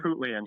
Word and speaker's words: Harpootlian: Yeah, And then he I was gonna try right, to pronounce his name, but I could not get it right. It was Dick Dick Harpoot. Harpootlian.